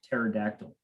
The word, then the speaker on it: pterodactyl: So I mean, I think one of the it's kind of like pterodactyl. There's like that silent P in pterodactyl for those of you that don't know.